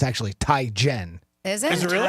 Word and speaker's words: Teigen: It's actually Ty Jen.